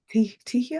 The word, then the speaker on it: Tyhjä: And then the name Tia.